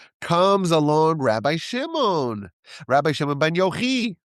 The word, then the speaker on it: Yochai: Comes along Rabbi Shimon Bar Yochi. Some people pronounce it Yochai. I like Yochi.